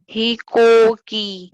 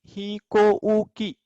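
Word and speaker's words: ひこうき: ही को की, करेक्ट, ही को की। इसका प्रोनाउंसिएशन ही को ऊ की नहीं होगा, ही को की।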